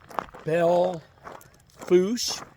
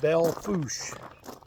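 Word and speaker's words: Belle Fourche: phone and we're walking so we're walking at Bell fos but that's the way it's pronounced but it's definitely not spelled right there it's actually spelled like Bella forche they call it Bell fos so anyway um it is June 22nd this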